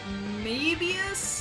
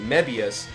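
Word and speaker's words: Mebius: pronunciation issues there uh there's the Ultram Man known as Ultram man me the the meus himself called himself uh mayus May us may us so that was like who went to the movie maybe us yeah that's the way it came across whereas other people were pronouncing it meas and I'm like okay well you guys got it right but how come he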